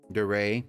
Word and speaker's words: DeRay: I'm assuming it's the Rai. A Derai family. Or is it DeRace? DeRay, yeah. DeRay family.